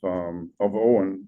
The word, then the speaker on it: Eoin: Eoin Dempsey, and I realize it's spelled E-O-I-N, and that's just Irish for you.